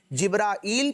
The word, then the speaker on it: جبرائیل: ان کا جو نام کا تلفظ ہے نا بچوں، مختلف اعتبارات سے جبرائیل پڑھنا بھی درست، جبریل پڑھنا بھی درست اور جبرائیل پڑھنا بھی درست. تینوں درست تلفظ ہیں.